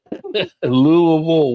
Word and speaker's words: Louisville: Louisville, one syllable.